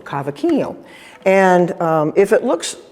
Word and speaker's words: cavaquinho: And this one um is called a cavakino. And I'm going to spell it because I had to learn how to spell it myself. And it's c a v a q u i n h o. Kavakin.